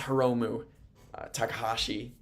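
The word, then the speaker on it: Hiromu Takahashi: It is Heromu Takahashi and Hiroshi Tanahashi. That's the difference.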